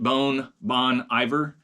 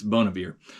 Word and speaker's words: Bon Iver: Let's see here, Bon Iver, or if you're mispronouncing it, Bon Iver, it's Bon Iver.